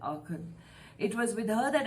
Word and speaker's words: Aachen: The pronunciation is that, Aachen.